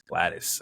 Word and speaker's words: Gladys: Gladys.